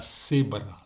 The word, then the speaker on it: cebra: Y hay otra manera de pronunciar esta letra C, con E, con I o con Y. C, sí, sí. Se pronuncia como aquí la cebra, la cebra. Esta letra se pronuncia como las letras TH en la palabra thanks